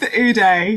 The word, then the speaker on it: Ude: Judith yeah Judith yes Judith Uday yeah that's great oh okay you die because it's pronounced u-d-e isn't it that's kind of